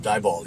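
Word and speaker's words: Diboll: called where are we dball just dball yeah that kids if you're not from Texas that's a real place d i b o l l but pronounced d i e b a l l d yes oh there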